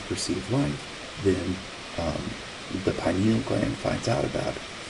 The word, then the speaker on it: pineal: the pineal gland and uh you know I know people want to call it the pineal gland uh but you pronounce it pineal pine tree pineal is found near in